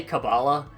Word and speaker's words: Kabbalah: Also, I will do my best to pronounce it as Kabbalah. I believe that is how it's properly pronounced. If you say Kabbalah, it doesn't matter.